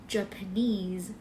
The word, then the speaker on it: Japanese: เรา จะ เรียก ว่า Japanese คน ญี่ปุ่น ก็ เหมือน กัน นะ Japanese เน้น ที่ neese เหมือน chines Japanese โอเค